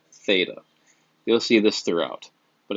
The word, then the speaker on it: theta: that symbol just you know this symbol is pronounced theta you'll see this throughout but again the angle